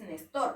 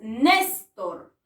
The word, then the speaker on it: Néstor: al haber sido néstor donde está la palabra la sílaba tónica en la última o en la penúltima a ver néstor no es néstor es néstor por lo tanto siendo